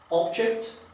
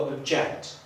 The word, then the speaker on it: object: Ok, przejdźmy do dalszego przykładu, a mianowicie znane każdemu słówko object albo object. Jeżeli podkreślę drugą sylabę, będę miał do czynienia z czasownikiem. Jeżeli podkreślę pierwszą sylabę, będę miał do czynienia z rzeczownikiem.